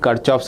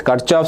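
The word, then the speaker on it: Kirchhoff: First we will start with kchov's rules. There are uh some says Kirchov, some says Kchov both are okay. Uh Kov Indian pronunciation, Kirchov international pronunciation both are good.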